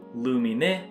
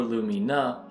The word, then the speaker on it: Lumine: It’s a name we might all be saying wrong--Lumine Hall. That’s how I used to say it anyway, but it’s actually closer to "LOO-MEE-NEH" or "LOO-MEE-NUH" hall.